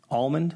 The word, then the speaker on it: almond: Almond. Almond. Do you say almond? Actually, it's almond. You don't pronounce the L.